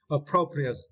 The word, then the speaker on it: appropriate: And for this word, you need to stress the second syllable appropriate, appropriate, right?